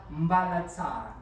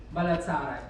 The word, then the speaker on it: Mbalatsara: Mbalatsara. You pronounce it well. Very good. Mbalatsara.